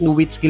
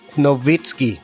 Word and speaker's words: Nowitzki: At buti na lang talaga kasi kung hindi wala tayong Dirk Nwitsky legacy ngayon. Ang tamang bigkas ng pangalan ni Dirk ay Dirk Novitski. Kasi sa German, ang W ay nagtutunog V.